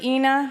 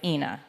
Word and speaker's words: Ina: my own head I didn't want it to rhyme with a certain part of your body oh my god I've really associated with Ena how embarrassing and I didn't realize that until later I was like okay Ena when I did the audiobook I was like it's Ina okay Fab from from henceforth